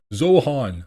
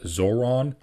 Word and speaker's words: Zohran: Uh um it's it's pronounced Zoron. Okay. Keep practicing. Um it's a it's a little bit of a foreign name. You got to admit it's difficult to say. It's it's two syllables.